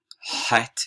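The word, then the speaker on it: het: is like our z hat is like nothing we have um but you can think about it i suppose like the ch in bach right johan sebastian bach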